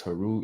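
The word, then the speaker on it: Heru: new Aeon new beginnings Haru is of course that Aries gang energy okay notice how it rhymes not right it sounds a lot like hero the person in the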